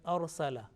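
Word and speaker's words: أرسل: Now if the previous letter is with fatha or dhamma, the ra sakin, ra with sukun, with jazm will be pronounced with thick sound, with heavy sound.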